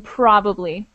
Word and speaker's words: probably: note probably there's a a definite emphasis on the first syllable in probably just make sure okay